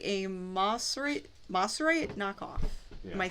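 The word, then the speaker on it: Mosrite: Yeah, this one I got for $100, which I thought was really neat, and it's got Moserite. Oh, Moserite. Oh, Moserite. That's how you pronounce it.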